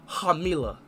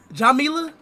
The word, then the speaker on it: Jamila: look at it okay Mila you were close though you just messed up the first letter Jamila yeah no I thought